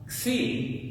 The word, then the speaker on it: xi: Xi is going to be like wax. Right? Well, we do the same thing with the X, right? With wax. We throw an S on there. So, Xi is going to be wax.